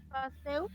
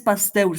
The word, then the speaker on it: Pasteur: El nombre de él es Pasteur, se escribe Pasteur, pero se dice Pasteur.